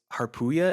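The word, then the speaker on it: Harpuia: to stop it um the interesting thing was haruya is how you pronounce the name of one of the one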